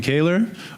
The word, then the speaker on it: Kaylor: Um, my name is Kaylor. Almost caller is very close.